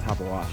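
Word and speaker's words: Tabeguache: then that one's uh tabag wash tabagwash um top of wash actually you pronounce it top of wash so and then when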